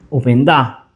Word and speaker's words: Openda: E attenzione, perché dall'altro lato ci metti Opendà, diciamolo con l'accento sulla A, che da noia, pure questo è bello forte.